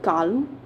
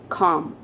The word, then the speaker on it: calm: said before so it's calm so if you see the letter l is silent here and how do we